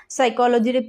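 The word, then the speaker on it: psychology: যাহা ওয়ার্ড মেনে আকাদা সাইকোলজির P silent জাজ ব্রিজ আর আইমে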